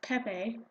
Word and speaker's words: Pepe: My friend told me that it's pronounced peep and I'm like no I think someone was trolling you. Like it's not Peep, it's Pepe.